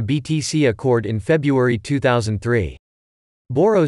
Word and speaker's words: Bodo: The controversial spelling of the word is Bodo, where the letter is pronounced not as d, but as hard r.